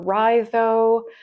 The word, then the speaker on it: Raidho: Some people pronounce it more phonetically, which would be Raidho, I guess, if you were saying the letters. I prefer Raidho, but however you pronounce